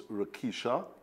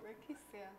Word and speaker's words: Rakesia: And we have one of our very young artists here with us, and her name is Rakesia. Did I pronounce that right? No, Rakesia. Rakesia, yes.